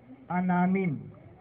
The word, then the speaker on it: Anamim: Si Anamim. So, hindi yan yung anim Anamim. Anamim. Sa salitang Hebreo, yung salitang Anamim, Anamim. Anamim. So, yun ang bigkas sa kanya.